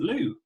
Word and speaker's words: Lui: I work with them personally um Mr Lou hi now before we go on I'm